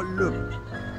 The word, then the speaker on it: Louvre: Creo que está bien pronunciado, no se pronuncia la R. Museo Louvre.